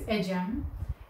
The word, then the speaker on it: Ecem: higher education in italy my name is ajam it's written as ecem but you can pronunciate it however you like after living in italy